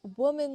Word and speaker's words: women: Pronunciation, use the short i sound like this is for both syllables.